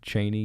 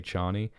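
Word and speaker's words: Chani: devries python peter um and cheney you could say charney uh as i said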